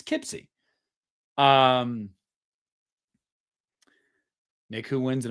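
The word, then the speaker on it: Poughkeepsie: What are my thoughts on the God, I'm going to butcher it again because I'm not from New York. Uh Pipsy, right? It's Pipsy Tapes, right? Who in here is from New York? I said it right. Pipsy tapes. Pipsy tapes. Pipsy tapes. It's Kipsy.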